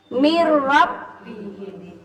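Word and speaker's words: من ربهم: Min rabbihim jadi mir rabbihim. Mir rabbihim. Kemudian kalau bertemu lam, mil ladunka.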